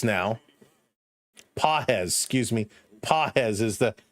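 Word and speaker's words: Pages: So, here is Fiser against Pades now. PZ, excuse me. Pahz is the correct pronunciation setup.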